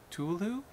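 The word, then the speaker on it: Cthulhu: good cuz I always I think I pronounced the H and it's wrong I know I'm saying it wrong I like when you say you say it well you have to dub this culu I like the way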